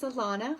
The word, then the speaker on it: Alana: So again, my name is Alana, which rhymes with Nirvana, and I help sensitive